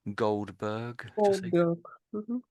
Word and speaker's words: Goldberg: So maybe Goldberg. So your your R was quite strong when you said Goldberg. Um so Goldberg Goldberg.